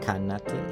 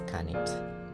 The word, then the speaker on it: khanate: Kind of like khanate, right? Khan. It's not khanate, it's khanate.